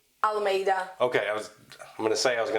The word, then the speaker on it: Almeida: friend uh Miss Jackie how do you say your surname uh I'll or Alameda okay I was I'm